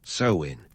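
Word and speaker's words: Samhain: First up, Samhane, pronounced sewin, because naturally the Kelts loved a good linguistic curveball.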